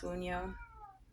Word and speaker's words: Wunjo: Okay, we have the Wunjo. These roots are coming out. They hardly ever come out. At least when I do the readings for other people. Wunjo. Oh, it's pronounced Wunyo.